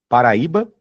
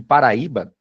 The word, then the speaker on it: Paraíba: Pessoal, muito fácil nesse exercício é você eliminar, por exemplo, as letras C e D, pelo simples fato de Paraíba ser uma paroxítona.